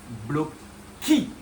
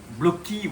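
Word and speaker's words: blochi: Et bien c'est bloquy. Bloquy oui parce que là on vient d'un allemand qui s'appelle Marcus Block. Et donc en allemand quand le CH est à la fin on dit K et donc c'est Corilorace bloqué.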